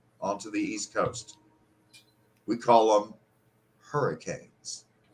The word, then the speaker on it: Cabell: Roads so it's in Cabell County but caval is spelled c a b e l l and so you often hear cabel or cable but it's Cal like C A BBL e right okay and then